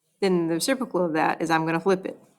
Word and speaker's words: reciprocal: time don't say it correctly but this is pronounced reciprocal okay so reciprocal is when a fraction is